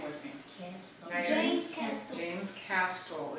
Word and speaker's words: Castle: name with me james castle it's actually cast soul it sounds like there's a t but just like the castle like the building the castle it's a silent t so it's james castle say that with me